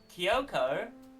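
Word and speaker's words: Kyouko: japanese but it's whatever every english localization of uh japanese game ends up dropping the extra vowels for some reason for instance uh kyoko is technically uh k-y-o-u-k-o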